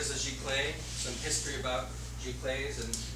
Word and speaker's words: giclée: So we're going to go over the history and the origination of the term Giclee, and that's how it's said, Giclee.